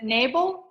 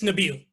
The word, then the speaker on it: Nabil: say your name wrong is it nable it's nabil nabil thank you uh maybe